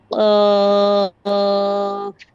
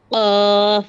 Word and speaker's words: قاف: غين বইন فاء হা قاف ক قاف গলার ভিতরে আসবে মানে জিহ্বার গোড়াটা উপরের তালুর সঙ্গে লাগান খেয়াল করেন কফ ক